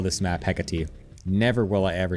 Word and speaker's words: Hecate: It's actually pronounced Hecate?